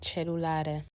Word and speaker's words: cellulare: Just listen to this, and I think it's meant to be pronounced cellulare.